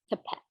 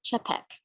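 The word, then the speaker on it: Čapek: originated in 1923 by dr norbert hepek actually is pronounced cepek founder of the modern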